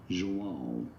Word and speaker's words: João: In Brazil, it is said as João.